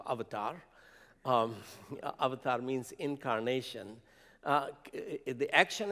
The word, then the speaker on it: avatar: james cameron film avatar that's the correct indian pronunciation of avatar avatar means incarnation the